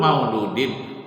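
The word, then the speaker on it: مولودٍ: Kullu mauludin, bacanya haruslah baris di bawah kalimat mauludinnya, karena dia sandarannya.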